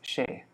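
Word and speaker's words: সে: So Ami, Tumi, She. It's, you see it's an S, but in Bengali it's pronounced She.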